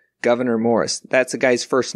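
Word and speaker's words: Gouverneur: a governor right because it's governor morris but no that's actually his first name it's spelled g-o-u-v-e-r-n-e-u-r governor morris that's a guy's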